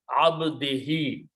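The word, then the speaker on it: عبده: For better pronunciation, the Qari will recite this he. So the recitation becomes smooth. Abdihi.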